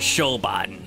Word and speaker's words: Siobhan: fine fine that was how do you say that name no it's siobhan hello my name is shobhan ariel winter dude i